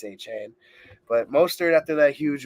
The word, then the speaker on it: Achane: That's how you pronounce it now, Achane.